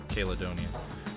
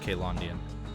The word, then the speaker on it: Caelondia: I keep wanting to pronounce that like Caledonian. Or Caelondian. So it's Caelondia.